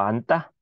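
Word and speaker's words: 앉다: 그래서 앞에 게 발음되고 뭐 안따 같은 경우에는 안따, 아따가 아니라 안따가 되죠?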